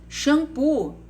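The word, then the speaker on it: xampu: x shampoo no caso shampoo a gente sabe escreve com x mas ela tem som do que de ch exagero também se escreve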